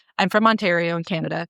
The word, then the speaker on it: Ontario: and like I'm from Ontario in Canada. People will pronounce it onio specifically in podcast and true crime to get people to tag them on socials.